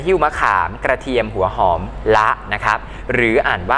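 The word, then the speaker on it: ฯลฯ: ๆ ช่วย กัน หิ้ว มะขาม กระเทียม หัว หอม ละ นะ ครับ หรือ อ่าน ว่า เด็ก ๆ ช่วย กัน หิ้ว มะขาม กระเทียม หัว หอม และ อื่น ๆ อย่าง นี้ เป็น ต้น นะ ครับ เครื่อง หมาย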